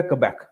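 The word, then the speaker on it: Québec: اندر ایک صوبہ ہے کیبیک، ٹھیک ہے، اس کو ادھر لکھا اس کا سپیلنگ ہوتے ہیں کیوبک، اس کے سپیلنگ ہوتے ہیں، لیکن اسے بولتے ہیں کیبیک.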